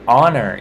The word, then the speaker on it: honor: In the word honor, it's silent.